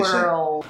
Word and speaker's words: world: I would write it like W-E-R-E, word. And then I'll put probably like 3 L's, I'm and then a definitely D, finishing. world.